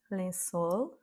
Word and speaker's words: lençol: Lençol. Donc ici, on a un L, donc accent tonique sur la dernière voyelle.